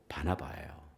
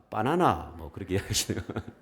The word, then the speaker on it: 바나바: 됩니다 그의 이름은 바로 바나바예요 여러분이 바나바라는 이름이 조금 헷갈립니다 어떤 분이 이렇게 바나바를 발음을 하려고 하다 보니까 바나나 조금 이렇게 좀 더 이렇게 수준이 높으신 분은 바라봐 그렇게 얘기하실 때도 있는데 조금 이름이 쉽지는 않아요